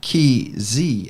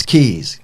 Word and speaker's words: Keys FM: by the way it's keys fm i looked at the way that is spelled our brand new station jenny and it appears that it's not key z fm it's keys k e z why